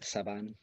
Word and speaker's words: Sabin: Chris Sabin. Yeah. Excellent. It's pronounced Saban.